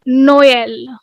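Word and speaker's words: Noël: Now, this means that there are two consecutive vowels and you have to pronounce them separately. Okay, for example, Noel. So we have the sound of O as and your E as well.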